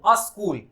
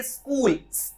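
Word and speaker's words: school: अस्कूल बोलते हैं वो, अस्कूल। इनकरेक्ट प्रोनाउंसिएशन, अस्कूल होता ही नहीं है, आपको कहना चाहिए स्कूल, ऐसा आधा स और क, ऐसा प्रोनाउंस होना चाहिए, स्कूल, ना कि अस्कूल।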